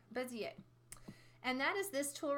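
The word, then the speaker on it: Bézier: bezzie étoile bezzie a is a French word in French any words that end in ier are pronounced yeh bezzie a Bezier and that is this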